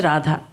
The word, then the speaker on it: Radha: A scripture named Yoga Rahasya says, Radha, made of 2 syllables. Ra, meaning the entire creation. Dha, the one who creates, nurtures and protects and destroys countless worlds, countless universes, is known as Radha.